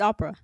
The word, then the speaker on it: Opera: go no it's Opera Opera Opera GX Opera I just say your